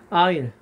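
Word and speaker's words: aisle: 하나 더 적어 볼까요 이렇게 아일 아세 하는 것은 뭐 일단은 s n 발음이 되지 않습니다 이건 통로 자리입니다 통로자리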